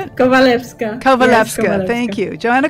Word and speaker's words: Kowalewska: Kowalewska.